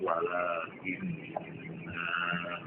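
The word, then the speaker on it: ولكنا: Itu ternyata yang ada alifnya itu walakinna tidak boleh dibaca panjang.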